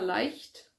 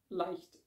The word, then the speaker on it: Leicht: Then I've got Persephone Station by Stina Leicht, which is probably not how you pronounce her last name in English, but Leicht is a German word, so I'm going to say it that way.